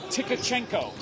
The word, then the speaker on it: Tkachenko: his last name is tkachenko it's a it's a T and A K and I thought you didn't pronounce the T but he said yes you do pronounce the T wow that will not